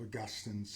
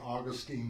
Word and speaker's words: Augustine: I still don't know whether to say Augustine or Augustine. But since I'm with Episcopalians, it sort of seems better to say Augustine. Uh I don't know. But you know the Latin way to pronounce his word name was Augustinus and Augustine is actually close closer to that.